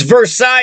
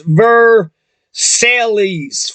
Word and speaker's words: Versailles: in Versailles Versailles versallies it's Versailles in French that's what the city is called in France Versailles but in Kentucky you say the every syllable so it's ver Sally's Versailles so John Jay